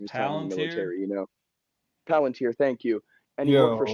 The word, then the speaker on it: Palantir: Palantir, thank you.